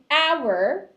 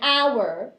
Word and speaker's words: hour: but you say an hour because you don't pronounce the h in the word hour okay be careful with